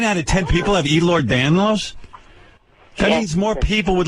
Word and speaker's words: Ehlers-Danlos: Igor Danlos. Igor. No. Ehlers-Danlos. How many people in the world have that? Can't be many. About 9 out of 10 people. 9 out of 10 people have Ehlers-Danlos?